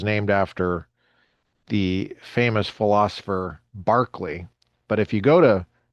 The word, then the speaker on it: Berkeley: after the famous philosopher Barkley. But if you go to Berkeley and study modern philosophy, taking a class on Barkley, they're going to pronounce it Barkley at Berkeley when it's the same guy.